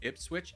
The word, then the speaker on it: Ipswich: By the way, it's pronounced Ipswich.